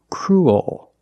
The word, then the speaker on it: cruel: And what's different is your tongue is not straight. It goes a little high in the back. Oh. And the bottom of the tongue expands. It gets bigger to make the dark L.